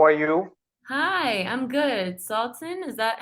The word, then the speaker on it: Sultan: Sultan, is that how you pronounce it?